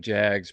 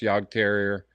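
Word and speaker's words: Jagdterrier: I've got a Yog Terrier here, and some people call them Jags, but it's pronounced Yog Terrier, and he's 8 months old.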